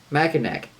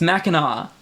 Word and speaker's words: Mackinac: How do you pronounce it? Mackinac. Nope. I know it's something else. I can't remember what it is. It's Mackinac. No, fuck that.